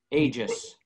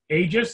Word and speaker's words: Aegis: Aegis, that's the right way to say that word? Yes. So they see it all, everybody has that word all over the place. I've always wondered, what is the right way to say it? So Aegis. It's from the Greek.